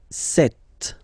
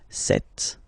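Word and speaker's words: cette: s and then it will be set set okay so as you usual in French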